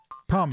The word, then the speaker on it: Pum: Pum. There we go. Pum. Oh, son of a bitch. The non-Mario Bros. Rhymes with bum.